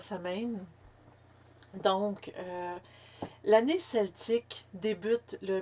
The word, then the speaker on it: Samhain: on il se prononce on dit qu'il se prononcerait swan ou sawan ou samhain pour ma part je veux dire ça mène donc l'année celtique débute